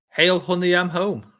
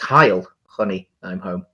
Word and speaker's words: Heil Honey I'm Home: most famous british sitcom hail honey i'm home oh yeah i think it's heil honey i'm home yes that's a better pronunciation for mine yeah yeah um i've